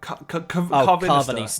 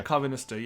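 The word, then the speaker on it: Karvanista: Carvanista. Yeah, Carvanista, yeah.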